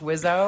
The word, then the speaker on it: WSO: his rap albums they call yeah wso but this is like pronounced wizzo I guess and Weapons